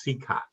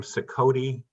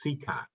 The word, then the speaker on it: Cicotte: straight right from the beginning his name is pronounced sika in field of dreams they call him sakoti his teammates would call him everything every pronunciation